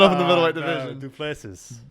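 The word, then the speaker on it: du Plessis: Duplessis. Dricus Duplessis. The S is silent.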